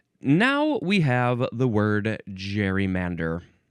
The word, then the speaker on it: gerrymander: Um, you could also say, I guess some people say Gary Mander. Hm. Is that what I'm seeing? Gary Mander. Um, what's the difference between these two pronunciations? I'm I'm seeing these these look exactly the same. I don't know what's the difference between these. Um, anyway, I'm going to say gerrymander. That's what most of us are saying and hearing.